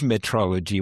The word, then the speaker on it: metrology: And I'll start with what it's not, because it's not meteorology, which sounds very similar and is spelt very similarly as well.